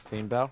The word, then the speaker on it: Painbow: Painbow, is that why you don't have a girlfriend? Did you call me Painbow? That's not important. That's what it sounds like. Painbow.